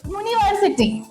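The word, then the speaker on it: university: एक और एग्जांपल देखते हैं बच्चों, जैसे कि यूनिवर्सिटी, यूनिवर्सिटी। आप देखो यहाँ पे बच्चों स्टार्ट यू से हो रहा है लेकिन हम साउंड कौन सा प्रोनाउंस कर रहे हैं? यू, यू, यूनिवर्सिटी।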